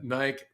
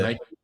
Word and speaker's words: Nike: You call it Nike. That's how that's how the Brits uh pronounce it. Nike. Yeah. Versus Nike.